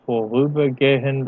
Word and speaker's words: vorübergehend: Sie kollidieren mit den Sauerstoff- und Stickstoffatomen in der Luft und regen diese vorübergehend an. Remember not to pronounce that H as an H.